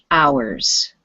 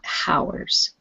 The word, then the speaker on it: hours: word in english is one of those words where we do not pronounce the h so this is ours not hours hours repeat please yeah